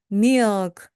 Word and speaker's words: milk: 우유는요, 여러분께서 milk 하고 뒤에다가 강세를 주지 마시고요. 마치 meal처럼 소리를 살짝 끌어주면서 끝부분에 크 소리를 작게 내보세요. 보세요. milk, milk.